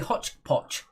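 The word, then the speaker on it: hotchpotch: a hodgepodge first but it's actually hot potch that's the british pronunciation hodgepodge is the american one anyway number one is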